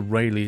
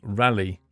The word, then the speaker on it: Rayleigh: Pronunciation, Rally. Nah. You're not having that one, Jim. It's Rayleigh, mate. I'm pretty certain we had that name before you did. So it's Rayleigh for me.